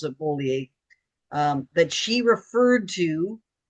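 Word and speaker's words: Beaulieu: I know it should be BU, but she pronounces it Bolier.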